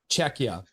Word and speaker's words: Czechia: Pronounce the K. Checka.